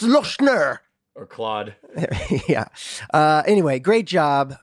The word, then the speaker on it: Lochner: Hell by Luca Senor last judgment by Stefan lochner I really am in the pocket today you